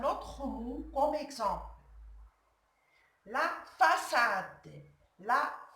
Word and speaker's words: façade: La façade. La façade.